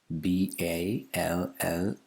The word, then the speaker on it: ballad: It's not ballad, it's ballad. Ballad. Firstly, it's not the second syllable that the stress falls on, it's on the initial syllable. And the first vowel sound is not it's a. And the second vowel sound is not r, it's It's also a. Schwa.